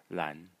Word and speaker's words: 蘭: so this is Moo Mo and this is Lan LAN the small size that I'm writing uh um over the syllables are the tones for those of you